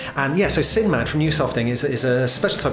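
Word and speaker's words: Nusofting: some pretty cool stuff they call new softing i think that's how you pronounce this nu soft ing and they've got this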